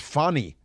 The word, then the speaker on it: Fani: The racist attacks against Fani. You can't pronounce it Fanny, it's Fani because it's a Swahili name.